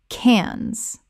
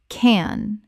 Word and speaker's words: Cannes: T Y land Thailand Word 109 can Common mispronunciation Cannes Correct pronunciation Cannes The S is completely silent in this French city name.